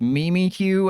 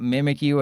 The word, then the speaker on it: Mimikyu: Yes, that's how it's pronounced. It's Mimi Q and Eislash, not Mimikyu and Agislash.